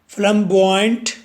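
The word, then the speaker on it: flamboyant: फ्लम बॉय, अब flame नहीं कहना, फ्लम बोलना है, फ्लम बॉय।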